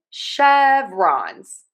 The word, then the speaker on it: chevrons: Yes, ending in that Z sound, we typically say a Z sound when we have the plural and the root word ends with an N sound.